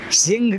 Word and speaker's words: सिंह: सिंह का spelling SINGH लिख बाढ़ते हैं, लेकिन वो स्पेलिंग सिंह का नहीं होता है, क्योंकि सिंह में ह का उच्चारण GH से नहीं होता है जी।